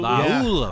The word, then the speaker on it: Laulu: now you know uh give me the the pronunciation again Lulu lululu laulu according to according to Oklahoma's website Jonah laulu laulu than la la ululu